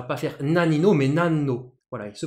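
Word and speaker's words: 何: analyse ça va pas faire nalinnes home et nano voilà il se prononce nan devancé canala et puis plus tard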